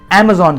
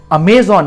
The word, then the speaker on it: Amazon: मगर क्या आप इसकी सही प्रोनाउंसिएशन कर रहे हो? इसे Amazon कहते हैं, अमेजॉन नहीं, Amazon।